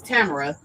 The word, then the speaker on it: Tamara: I told her when I met her, I wanted to get her name right because I know it's 3 ways to pronounce that. It's Tamara, and Tamara. So her name is Tamara, and she will be with us next week.